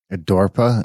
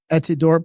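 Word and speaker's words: Etidorhpa: Edorpa, is that how you pronounce that? Etidorp. Well, I think it's Edidorpa. Some people say fa, but it's Aphrodite spelled backwards, and I think it's Edidorpa because it's HPA.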